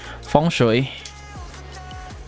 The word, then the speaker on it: Feng shui: Feng shui is a Chinese term. Let me see how they pronounce it. We should, Feng Shui. Feng Shui. Feng shui. And in Vietnamese, it sounds like this. Phong thủy.